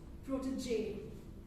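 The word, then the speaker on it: protégé: And the pronunciation of one particular word, it's pronounced protege.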